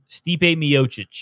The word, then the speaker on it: Stipe Miocic: Stipe Miocic.